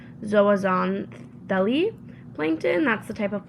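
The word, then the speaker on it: zooxanthellae: It's pronounced zoazant deli plankton.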